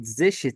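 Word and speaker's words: sechzehn: لك هنا ايه بقى لتخفيف النطق في اللغه الالمانيه هنمحي حرف الاس بقت زشتين زشتين زشتين زشتين يبقى احنا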